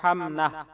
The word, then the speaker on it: حمنہ: ہے۔ تلفظ اور اعراب، اس کا درست تلفظ ہے حمنہ۔ ہا پر زبر، میم پر جزم، نون پر زبر اور ہا پر جزم، یعنی ہا میم زبر حم، نون ہا زبر نہ، حمنہ۔ Spelling HUMNA، حمنہ۔ نسبت،